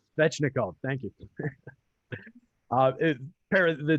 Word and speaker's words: Svechnikov: And then just to round off some of the numbers behind some of the things you said, Aho and Svinchov, I can never say his name. Svechnikov, thank you.